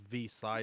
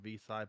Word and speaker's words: Vixay: Oh, by the way, my name is Vside. It's pronounced Vside, but you got you guys just call me for nicknames to keep it simple.